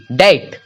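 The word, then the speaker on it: debt: से पूर्व यानी कि टी के पहले अगर बी रहे तो वो भी उस परिस्थिति में भी बी जो है साइलेंट हो जाएगा तो यहां पे है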